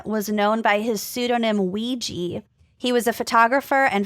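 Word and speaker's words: Weegee: you the tale of ouija waluigi like the game it's pronounced it's spelled w-e-e-g-e-e but it's purported to be taken from the game ouija huh o-w-i-j-a because this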